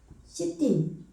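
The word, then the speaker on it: שדים: 이렇게 시딤, 이게 지금 애 발음인데 무성세화라 이렇게 발음이 안 나는 걸로 해주면 시딤인 거예요.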